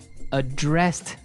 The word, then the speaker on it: address: So, the verb address has the the stress on the second syllable.